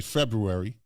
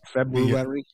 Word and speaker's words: February: February was kind of, or as I say, February, because it's February. Yeah, look at the spelling. F-B-R-U, February. No one said that R is silent.